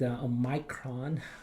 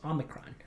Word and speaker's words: omicron: of people pronounce it a micron the actual greek pronunciation is omicron it's a also known